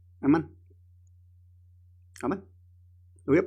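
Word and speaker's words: אָמַן: Y el verbo hebreo es amán, así se escribe, amán.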